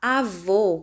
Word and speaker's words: avô: os deve ser acentuada se fosse avó com som aberto ficaria acento agudo como é nós vamos colocar avô com o som fechado nós